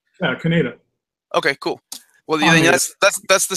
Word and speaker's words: Kaneda: know what you're talking about how do you pronounce cañedo cañedo yeah the protagonist how do you pronounce his name Kaneda okay cool well that's the stream that lets